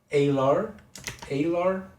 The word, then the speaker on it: alar: And let's check how it's pronounced. Alar pronunciation. Alar. Okay, that's the way to do it, so that I don't embarrass myself too long. Alar. Okay, that's how to pronounce it.